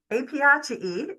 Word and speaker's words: Apiaceae: And then the next group is this, oh my goodness, if I can say this correctly, Apiaceae. Apiaceae is how we pronounce that.